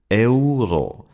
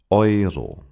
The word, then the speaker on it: Euro: Many learners pronounce this last word as ao. But that's wrong. In German, we pronounce the European currency as oo. It starts with the same sound as the English word oyster.